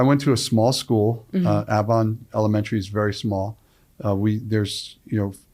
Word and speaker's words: Avon: Avon, yeah, Avon by the sea.